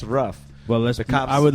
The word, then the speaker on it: Roof: Are we supposed to talk about the Dylan Roof shit? It's What's a big that? deal. His Oh, name he is went to pronounced Burger Ruff. King. His name is pronounced Ruff.